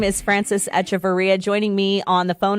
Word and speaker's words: Echeverria: Well, I've always pronounced it Echeverria, but, you know, my dad has a little heavier of an accent, so it's a little different. I like it. Echeverria. Like Etch-a-Sketch.